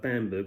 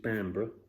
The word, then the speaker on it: Bamburgh: So it looked like Bamberg, a bit like Battenberg, but I think it's Bamburgh. Look at the video.